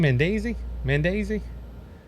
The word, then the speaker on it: Menendez: That's how you say his name, Menendez. I said it earlier. I can't say it now. Menendez.